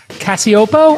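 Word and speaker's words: Cacioppo: I thought I would bring Christina Cassiopo. I pronounced it correct. I'm hoping, Christina. You got it.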